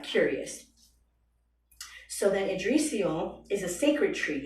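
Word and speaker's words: Yggdrasil: and I was like what the fuck is edal because it's spelled y g g d r a s i l so I was like Curious so then adrial is a sacred tree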